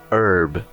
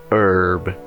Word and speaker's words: herb: Em inglês americano se fala herb, herb. No britânico se fala herb, herb. Perceba que o H no americano é mudo, no britânico ele tem som, o R é pronunciado no americano e no britânico não.